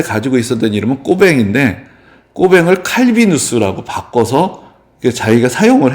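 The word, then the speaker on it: Cauvin: 그게 이제 원래 자기 태어날 때 가지고 있었던 이름은 꼬뱅인데 꼬뱅을 칼비누스라고 바꿔서 자기가 사용을 했던 거죠. 그래서 사실은 정말 이 사람이 프랑스 사람이라고 읽으려면 나는 꼬뱅이라고 불러라.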